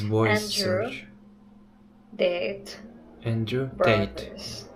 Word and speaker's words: Tate: Tate. Not Date.